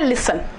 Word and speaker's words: listen: अब हम बोलते हैं लिसन, LISTEN जी, तो हम लिस्टन तो नहीं बोलते, टी साइलेंट हो गया।